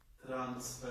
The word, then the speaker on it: transfer: On the first syllable, that's right. And they sound like what? Import. Export. Progress. Progress. Transfer.